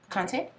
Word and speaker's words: Kante: What do you pronounce her last name? Kante?